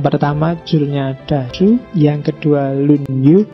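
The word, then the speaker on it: 论语: julnya dasu yang kedua lunyu bacanya misah ya kalau disambung jadi lunyu y kalau lunyu licin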